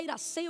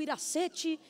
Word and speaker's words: Iracê: Eu nunca sei se eu devo falar Iracê ou Iracete. Eu não sei como é, se o T é mudo, se pronuncia. Como sua mãe lhe chamava ou lhe chama? T mudo, Iracê então, né?